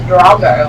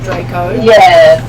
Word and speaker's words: Draco: It's almost like you said Drago, like from How to Train Your Dragon. Yeah, same here. No, it's I think it's along that same lines though. Martin pronounces things a little bit differently sometimes. So I believe it's like Draco Malfoy, Draco. Yeah.